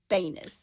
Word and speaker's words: Banis: Everybody pronounces his name a different way, but I heard him say his own name, Joey Banis. You say Banis, I say Banis.